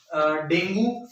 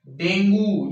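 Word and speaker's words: dengue: ठीक है, डेंगू या डेंगी बोलते हैं वैसे इसको, इसका एप्रोप्रिएट प्रोनाउंसिएशन जो है वो डेंगी है।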